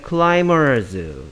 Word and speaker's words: climbers: 여기에 climbers. 저 B가 소리 안 나니까 발음은 climbers, climbers가 아니고 climbers가 되고요.